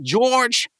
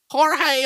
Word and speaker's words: Jorge: George uh hello McFly it's not George you're saying it wrong he's Spanish we're talking about my best friend grilling Enthusiast lowbudget movie director Jorge Romeo welcome to my